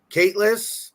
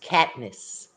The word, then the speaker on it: Katniss: Caitlin Everdeen is the protagonist of what book series? Who? Yeah. Caitlin Everdeen is the protagonist of what book series? It's Katniss.